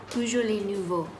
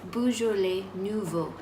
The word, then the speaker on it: Beaujolais Nouveau: And how do you pronounce this, babe? Beaujolais Nouveau. I say that one more time? Beaujolais Nouveau. Beaujolais Nouveau.